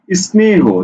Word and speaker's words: স্নেহ: এই যে প্রথম বর্ণ হচ্ছে যুক্ত বর্ণ, এই যুক্ত বর্ণকে তুমি ভাঙতে পারবে না, অর্থাৎ এই যুক্ত বর্ণ একসাথে উচ্চারণ হচ্ছে স্নেহ, স্নেহ।